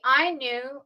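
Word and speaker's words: Ainu: knew and with the I knew or the uh well the predator of the Anu I've heard it pronounced as I knew and I'm going with that one um with the Inu which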